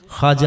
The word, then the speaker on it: خواجہ: کرام کا لقب ہے۔ اس کا تلفظ خواجہ ہے، یعنی واو نہیں بولنا۔ سوال ہے، اگر نماز